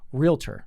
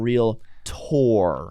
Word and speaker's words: realtor: don't say that anymore so how do you pronounce it realtor real realtor realtor oh really so it's not real tour i mean if you want to be like no stop it real tour or real lotto don't say it just it's a realtor realtor